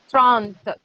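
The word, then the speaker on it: trente: Trant. Trant. Okay, listen to me. Trant. How will you pronounce?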